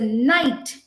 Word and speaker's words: knight: empire uh they would say he was a knight now what is the spelling of night not